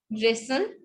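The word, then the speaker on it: wrestle: रेसल.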